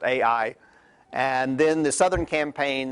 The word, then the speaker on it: Ai: Jericho and I usually by most people pronounced AI and then the southern